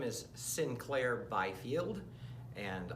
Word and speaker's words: St. Clair: is Sinclair Byfield and although it sounds like Sinclair it's spelled esti CLA I R and you would think that st. Clair but for some reason it's been advised that he is named Sinclair and I play the